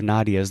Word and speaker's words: Nadia: We heard from a family member of Nadia's this past week, and she was nice enough to correct our pronunciation of Nadia's name to Nadia.